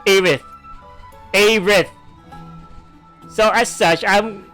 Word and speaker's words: Aerith: Aerith in Final Fantasy VII. Her name is pronounced as such. Aerith.